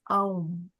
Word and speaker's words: Aum: And Krishna is that Om because Om is made of the three letters within Om also. A, U, and M. It's Aum. A-U-M.